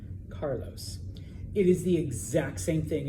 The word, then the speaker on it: Carlos: So for example, the name Carlos, all right? It's not Sarlos, all right? Carlos.